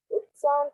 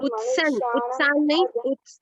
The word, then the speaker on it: उत्सन्न: जातिधर्मा कुलधर्मा च शाश्वतः उत्सान् कुलधर्माणां उत्सन नहीं उत्सन बेटा, उत्सन्न कुल धर्माणाम। आधा ना पूरा ना दो है बेटा।